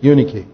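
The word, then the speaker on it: Eunice: in your mother unique that's the way they pronounce it in the greek unikey um so his mother's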